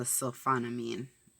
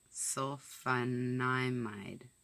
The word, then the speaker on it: sulfonamide: Okay, so sulfonamine. It's fine, I'm not a doctor. How do you say it? Where did it go? Sulfonamide. Sulfonamide? I believe I'm pronouncing that correctly.